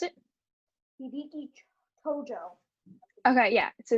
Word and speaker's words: Hideki Tojo: Oh, can you pronounce it? Hideki Tojo. Okay, yeah, so it's Hideki Tojo.